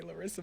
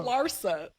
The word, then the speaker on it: Larsa: So I think a lot of females, Larissa Pimpin and them, don't even, You always say Larissa, but it's okay. It's Lara. Larsa.